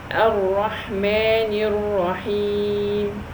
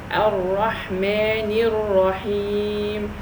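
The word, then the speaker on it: الرحمنِ الرحيم: So if I elongate the kasra underneath the word Ar-Rahman, that will automatically produce a ya, and we don't want this.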